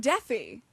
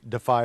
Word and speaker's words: DEFY: So, okay, you have a very nifty program to talk about, and we learned that it's not Deafy. No, it's not pronounced Deafy. It's Defy. Defy is the correct pronunciation, yes.